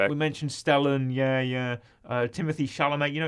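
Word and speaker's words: Timothée: mentioned stellen yeah yeah Timothy Shalom you know it's pronounced timot apparently but you can also say Timothy I that's fine I've never heard it pronounce Timothy oh apparently it's French okay so yeah uh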